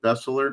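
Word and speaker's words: Beseler: Bessler. Is that how you pronounce it? Bessler.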